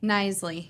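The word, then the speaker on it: Kneisley: And your maiden name, uh, pronounce it for me. Nicely.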